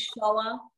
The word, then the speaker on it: Shoah: And how do I pronounce that? The word is Shoah.